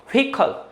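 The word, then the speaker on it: vehicle: Spelling में हा है लेकिन प्रोनाउंसिएशन में या की साउंड आएगी, शब्द हो जाएगा व्हीकल।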